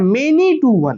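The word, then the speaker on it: many-one: और वन वन और मेनी वन, इसको क्या पढ़ते हैं, मेनी वन तो पढ़ते हैं, लेकिन इसका प्रोनाउंसिएशन जो होता है मेनी टू वन, क्या बोलते हैं, जैसे लिखते कैसे, मेनी डैश वन, प्रोनाउंसिएशन होता है मेनी टू वन, मेनी टू वन।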